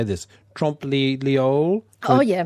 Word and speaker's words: trompe-l'oeil: Trompe-l'oeil. Oh, yeah. Trompe-l'oeil.